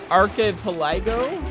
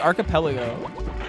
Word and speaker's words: archipelago: And it looks like it should be pronounced archipelago, but it's archipelago.